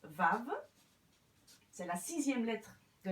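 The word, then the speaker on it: וָו: Ce qui est intéressant de remarquer, c'est que cette lettre-ci se prononce Vav.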